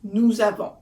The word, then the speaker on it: nous avons: So nous, the S at the end sounds like a Z.